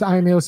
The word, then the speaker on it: Irami: Irami, the funky academic. Irami, would you like to tell people about yourself a little bit? Yeah, my name is Irony.